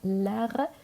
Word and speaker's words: l'art: إذن هنا نقول لها l'art de la table. إذن تي لا تنطق.